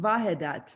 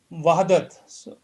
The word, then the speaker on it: वहदत: Gopi, it's pronounced Vahedat, no? So why is it W? It's actually Wahadat. So W is what that comes there.